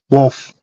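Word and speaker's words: Wolffe: Now, let me ask you about the pronunciation of this, Eric. Anybody who's Wolfie. Star Wars, is that Wolf. Commander Wolfie or Wolf.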